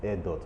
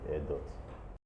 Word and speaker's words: Airdot: And in my own mind, when I formed that acronym, I wanted it to be pronounced as Airdot, but the spelling was sounding like Airdto.